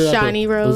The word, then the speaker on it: Shani Rose: Is it Shani Rose or Shani Rose? I respond either way, but it's Shani Rose. Let's get it out the way. It is Shani. I don't want to be mispronounced.